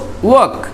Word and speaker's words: walk: ল সাউন্ডটাকে silent করব, while pronouncing, ওকে, silent করে দিব। তাহলে আমরা এটাকে বলবো ওয়াক, ঠিক, এটাকে বলবো ঠক, এটাকে বলবো চক।